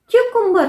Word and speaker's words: cucumber: तो यहाँ पे बहुत तो प्रोनाउंस करना सही है, पर वो कुकुम्बर नहीं, क्यूकुम्बर होता है, क्यूकुम्बर। या का साउंड आता है, क्यूकुम्बर।